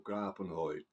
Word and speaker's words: Grabunhold: And today we're heading out to Germany for some Tolkien-themed black metal, and it's in the form of Grabunhold or Grabunhold, as it's pronounced out there, which means grave fiend,